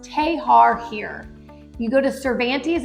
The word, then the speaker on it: Texar: way to Bayou tar it looks like Texar but it's pronounced tahar here you go to